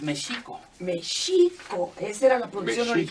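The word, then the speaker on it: Mēxihco: Lo veo incluso en la entrada porque decimos México, Y es mexico.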